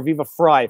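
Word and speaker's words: Viva Frei: do you pronounce it vive fray or viva fry fry like phonetically like fry my last name phonetically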